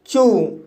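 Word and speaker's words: chew: जैसे चू, चू शब्द के अंत में ई डब्ल्यू आया है, लेकिन उससे पहले सी एच आया है, इसलिए ई डब्ल्यू का उच्चारण ऊ होगा, इसलिए इसे चू पढ़ा जाता है।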